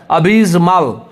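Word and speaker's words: abysmal: यहाँ पे जे नहीं है, जेड है, जिसका मतलब टंग को तीर के पीछे चिपकाएंगे और घर्षण के साथ हवा निकालेंगे। जैसे देखिए अबिस्मल, अबिस्मल, इसको क्या उच्चारण करेंगे?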